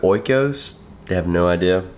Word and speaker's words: Oikos: I pronounce it oikos.